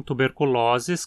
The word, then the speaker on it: tuberculosis: Aqui o O na penúltima sílaba é longo. Sempre que você encontrar a terminação osis se referindo a doenças, o O vai ser longo e a palavra paroxítona.